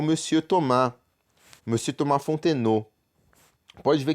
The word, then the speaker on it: Thomas: Thomas. Então, Thomas aqui, né? A gente não fala o S, porque consoante final a gente não fala, como eu expliquei anteriormente.